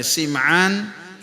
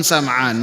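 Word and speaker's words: سمعان: Kedua-duanya bisa dibacanya Sim'an ataupun Sam'an. Walaupun dengan menggunakan kasrah sim'an itu lebih lebih masyhur dan beliau ini dinisbatkan kepada kabilah klab.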